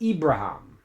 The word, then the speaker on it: Ibrahim: the name of Avraham look in Arabic is pronounced ibrahim Brown and it could be maybe there's an